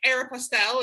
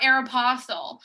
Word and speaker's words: Aeropostale: think i say supposedly you also say air pastel instead of air apostles so we're not relying on your pronunciation that's very true you know what i actually discovered i was talking to my mom so the reason why i say air pastel not aeropostale is because my mom